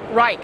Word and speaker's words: Reate: What's the proper way to rake? Okay. Nope. Rake. Okay, like the garden tool.